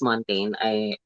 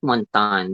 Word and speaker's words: Montagne: Montan or Montagne, I or think it's how do you it's pronounce her last I name? think it's Montaigne. It's Montaigne. I heard from some of the videos. It's not Montan because it's so social to pronounce.